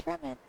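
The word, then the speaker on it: Freminet: It's like pear, but the silent S pear. It's alright, you go ahead. Like his penguin is spelled P-E-R-S, but it's just pear. So his name is Fremine. Without the T.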